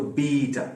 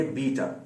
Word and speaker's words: beta: वाला वर्जन है, तो बीटा, ये बीटा, ठीक है, BETA लिखा तो BETA जाता है। उर्दू में हो सकता है कुछ लोग इसको बेटा पढ़ें, मगर ये बीटा है, ठीक है।